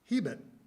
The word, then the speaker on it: Hebert: Our name might be Hebert in Quebec or South Louisiana, Hebert in Nova Scotia, Hebert in Standard America, but Dad pronounced it Hebert in an old-style local Yankee accent you don't hear much anymore.